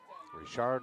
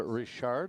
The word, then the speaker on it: Richard: Of course, a lot will pronounce it Richard or Richard. Richard, of course, would be en français.